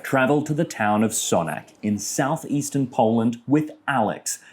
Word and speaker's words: Sanok: After he finished his studies in Krakow, Beksiński came here to Sanok, where he work- I'm saying it wrong. Sanok Beksiński came here to Sanok, where he worked